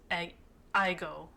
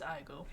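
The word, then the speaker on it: aegyo: also as having the most iggo a Igo. I had to look up how to say that, too. It's Igo.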